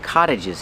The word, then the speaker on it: cottage: There are a lot of cottages here. Pronunciation. The T makes a fast D. Cott cott cottage.